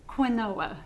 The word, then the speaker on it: quinoa: Well, to spell it is quinoa. Okay, all right. Quinoa. All right, it's so it's not spelled the same. Quinoa. Okay. Quenwah.